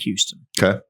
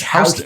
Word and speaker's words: Houston: because back east, Houston, like there's a Houston street in New York City, and they don't pronounce it like that. It's Houston. Houston.